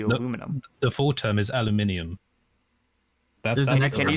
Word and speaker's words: aluminium: up with aluminium yeah you're just too lazy to say the extra syllable I mean it's aluminium that's how it is no it doesn't have